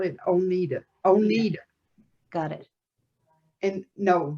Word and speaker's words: Oneida: I was born in Oneida, Kentucky, and I grew up around the Oneida area.